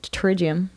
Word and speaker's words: pterygium: callous for your eyes pterygium oh nice but it's spelt like potato oh it's kind of like a pterodactyl kind of thing yeah that's cool yeah was